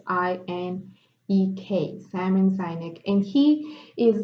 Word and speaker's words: Sinek: Maybe I'm pronouncing his last name incorrectly. It's Sinek, Simon Sinek.